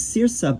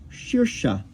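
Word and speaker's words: शीर्ष: You would think this is sirsa, but it's more like shirsha.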